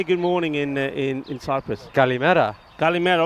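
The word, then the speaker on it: καλημέρα: Kalimera, right, Kalimera.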